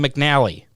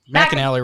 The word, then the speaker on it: McInally: with bill mcinally uh i keep wanting to mispronounce his name i'm a terrible i want to call him mcnally mcinally racing yeah it's uh